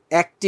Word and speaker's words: এক: এক বলতে কিন্তু আবার এই যে এক, এক বলতে কিন্তু আমরা উচ্চারণ করি এক, এভাবে। কিন্তু যখন তুমি একটি উচ্চারণ করবা, তখন কিন্তু আর একটি হবে না, তখন একটি এর স্বাভাবিক উচ্চারণ থাকছে। ঠিক আছে, তাহলে এক বললে এ জফালা আসছে, কিন্তু একটি বললে সাথে যদি টি যুক্ত হয়, তাহলে কিন্তু আর এ হবে না, এর স্বাভাবিক উচ্চারণটাই আসবে একটি।